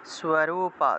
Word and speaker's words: স্বরূপা: চ সা দেবী ইয়ত স্বরূপা, দন্তীয় স্বয়ের নিচে বফলা আছে, তাহলে স্ব উচ্চারণ হবে, স্বরূপা, ইয়ত স্বরূপা যদুদ্ভবা, যদু আছে উচ্চারণ হবে যদু, যদু, যদুদ্ভবা, যদুদ্ভবা উচ্চারণ হবে, ভবা।